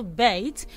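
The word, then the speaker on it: bate: bait okay and then i have another bait which is b-a-t-e you should find out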